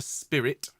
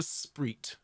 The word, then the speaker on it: spirit: was talking about this we don't sing uh in the spirit okay we sing in the spread okay i know it sounds as i said it sounds like a knock-off fizzy drink okay but we sing